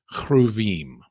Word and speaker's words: cherubim: The first thing he sees are these four-winged creatures that elsewhere are known as the cherubim, or to give it a more Hebrew pronunciation, chruvim.